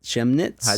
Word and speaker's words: Chemnitz: far-right protests continue in Germany city of uh Shem knits shim-sham it chemnitz he pronounces chemnitz Missi CH e MNIT Z commutes